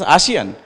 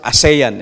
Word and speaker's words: ASEAN: ambassador Albert has mentioned the rest of the 600 million other nationals of ASEAN region pronounce it as a Chien but only Filipinos would pronounce is a sayin in sa onion so anyway what is